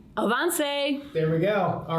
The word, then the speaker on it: Avance: to all right and beyonce rhymes with avance there we go all